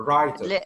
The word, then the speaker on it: writer: The writer. Writer. The writer. W is silent.